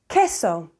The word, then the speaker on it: queso: SE pronuncia pay planta the Q is a coup as in queso queso notice I'm not saying queso the U after a q is always silent after a u after